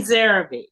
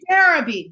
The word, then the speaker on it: Nzeribe: Nzeribe. Nzeribe. Nzeribe, beautiful.